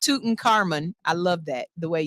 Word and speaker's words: Tutankhamun: Yes, it's King Tutankhamun, and yes, it's pronounced Tutankhamun.